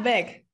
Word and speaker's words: Weg: How do I pronounce that one? Yeah, Weg. Yeah, Weg. It's that simple.